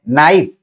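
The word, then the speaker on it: knife: जैसे अंग्रेजी में हम लिखते हैं नाइफ, तो इसमें के साइलेंट हो जाता है, लेकिन जब हिंदी में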